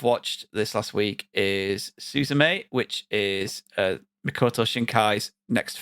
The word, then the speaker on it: Suzume: I think it centers around a young girl called Suzume. That's the best way I'm going to pronounce it. She's a Is 17. it not Suzume?